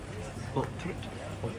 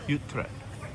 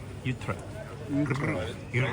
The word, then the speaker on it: Utrecht: Utrecht. I never say that right. Utrecht. Utrecht. Utrecht. Roll your R's.